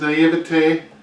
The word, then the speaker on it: naivete: But Jimmy, in his naivete, That was an interesting pronunciation.